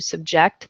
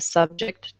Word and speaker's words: subject: a lot of times the difference is simple it's just a different emphasis so on one you